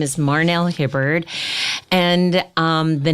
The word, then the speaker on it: Marhnelle: of you introducing yourself absolutely my name is Marnell hobart and the name Marnell is unique it's spelled and